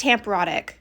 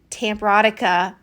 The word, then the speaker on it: Tamparotic: the entire video long it's temporotic it's not tamperatica I don't know why I kept adding an uh at the end but it's temporotic people I said it wrong and I'm so sorry